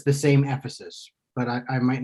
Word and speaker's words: Ephesus: So, first question, how do you pronounce the city from which Heraclitus hails? Ephesus. Ephesus.